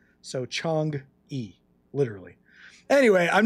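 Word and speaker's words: Chang'e: Well, the E is pronounced in Chinese. It's pronounced uh so give me that one. But we'll call we'll call it a Chong E.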